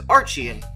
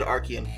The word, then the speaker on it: Archean: and move on to some calmer situations the archaean eon which i completely mispronounced the last video as archiean but uh that's actually said archaean my bad now the arcane is actually divided